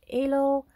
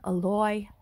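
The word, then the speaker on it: aloe: my garden some oloy some people call it ELO but we pronounce it alloy here's my morenaga moringa tree plant some Rosemary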